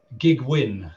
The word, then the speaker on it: Gig Wynn: And we started a search process, and that culminated in the appointment of Gig Wynn, that is pronounced, believe it or not.